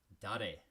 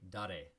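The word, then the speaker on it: 誰: And who in Japanese is pronounced dare. Repeat after me, dare.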